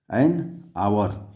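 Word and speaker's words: hour: बी सही है, एन आवर, यानी एच को हम जो है कि साइलेंट करके आवर पढ़ते हैं, तो इसका विकल्प बी सही है, आर्टिकल एन भरा जाएगा।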